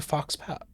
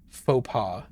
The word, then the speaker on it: faux pas: It's a Fox Pass? Fox Pass? Oh, damn it. That's not how you pronounce it all, is it? Hold on. Hold on. How do you pronounce it? F-A-U-X-P-A-U-S. I know how to spell it. Faux pas. There's no U in that either.